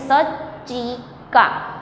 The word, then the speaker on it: सच्चिका: देखिए इसमें ये जो वर्ड है सच्चिका, उसमें लिखने पे हम कैसा लिखते हैं, ज और च दोनों साथ में लिखते हैं लिखने पे, मगर जब हम इसका प्रोनाउंसिएशन करते हैं तो क्या हो जाता है, ज वर्ड जो है वो साइलेंट हो जाता है और सिर्फ बोलने पर च ही हमें हम सब बोलते हैं, इसलिए इसका हो जाता है सच्चिका, मतलब कि फाइल।